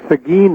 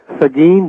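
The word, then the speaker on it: Seguin: The city is Sagin. That's spelled S E G U I N. Sagen, Texas.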